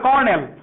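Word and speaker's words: colonel: সবাই কর্নেল পড়া বরণ করো। অনেকেই কিন্তু ভুল করবা, লেখাছিলাম বলো ক ল নেল, কর্নেল।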